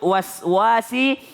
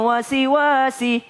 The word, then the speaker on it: waswas: Jadi kalau nyebut waswasi, selesaikan dulu was, baru sebut wasi. Karena kalau tidak diselesaikan dulu was, biasanya kalau orang Bugis, saya dari Sulawesi, orang Bugis bacanya begini. Min syarril wasi. Dia bilang wasi. Kenapa? Karena tidak diselesaikan dulu wasnya. Maka selesaikan, berikan haknya dulu. Min syarril waswasil khannas. Bukan wasi. Coba nada.